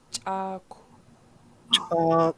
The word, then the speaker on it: Chaku: to notice is that there's a KW at the end of the word, which doesn't occur in English, and so we have to learn how to do it in Tlingit. To pronounce a rounded K or a KW in Tlingit, you just simply round your lips and breathe out the K.